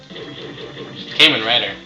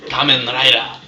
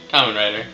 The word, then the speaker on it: Kamen Rider: kicking you i love caiman writer or kamen rider if you want to be all you know correctly pronunciation and all that anyways camera writer kamen rider whatever you want to